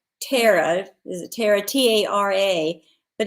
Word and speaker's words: Tara: name on the plantation well it's terra the plantation and gone with him no it's tara well some people pronounce it tara some terror it's t t-a-r-a is pronounced tara sometimes but well i mean